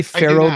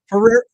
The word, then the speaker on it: Ferrero: If I say Pharaoh group, do you know what the f R E O? Does that give you a hint? Oh, Ferrero, the chocolates. Ferrero, you're right. I'm saying it wrong.